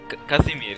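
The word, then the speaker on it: Kazimierz: name Che he's my air how do you pronounce his name what the is that kind of name kazimir kazimir that's that's po that's a Polish name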